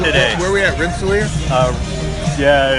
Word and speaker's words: Rensselaer: Rensselaer? Yeah. How do you say that? I'm like 3 hours away, so I don't know myself. I'm going to say Rensselaer, maybe?